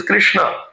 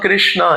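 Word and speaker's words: कृष्ण: and then N right so the real pronunciation is Krishna. It's not Krishna. It's not long. So as soon as you make it long then technically it becomes female.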